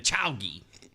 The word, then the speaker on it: Chauga: We don't say Chauga. We say the Chowgi.